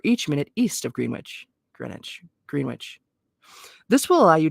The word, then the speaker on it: Greenwich: calculating for four minutes is deducted from Greenwich Greenwich Mean Time I think that's how you say